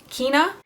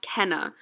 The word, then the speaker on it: Kenna: to end on this users name is kina while I'm editing this I realized it's probably pronounced Kenna so Kenna I'm so sorry for pronouncing your name wrong so she says in 2014